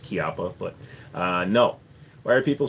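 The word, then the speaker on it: Chiappa: It's actually pronounced Chiapa, but no.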